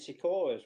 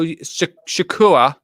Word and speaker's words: sequoia: Well, I could have told you where the giant sequoias were. You could have. You told me what? I could have told you where the giant sequoia tree were. How? Shakura?